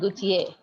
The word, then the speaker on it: Gaultier: And for It's Dior, Chanel, and Gaultier. That's the pronunciations, okay?